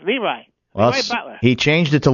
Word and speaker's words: LeRoy: team it's Leroy by the way it's not Leroy you should have all people know that Carl it's leri Butler he changed it to looy how do